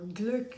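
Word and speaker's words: Glück: Well, Gluck, it should be pronounced, but I know she doesn't pronounce it that way.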